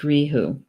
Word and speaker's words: reithe: word for RAM is Riku Riku Riku Riku it doesn't look like it's spelled at all like that but you know it's pronounced Rijo and and so the